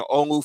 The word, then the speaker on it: Olu: Yeah, I was going to just say the first two, Olu, like Nas' pops.